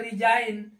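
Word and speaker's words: resign: हो गया ऐसे ही आरई एस आई जी एन इसको पढ़ते हैं रिजाइन जबक जी साइलेंट क्योंकि क्योंकि एन के पहले आया है अब देखेंगे सीओ एल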